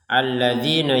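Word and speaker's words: الذين: Alladzina kini kita panjangkan untuk dzinya ini. Alladzina. Nah, alladzina kita panjangkan sebanyak dua harakat. Jadi alladzina, jadi untuk yang alladzina kita panjangkan yang d ini dua harakat.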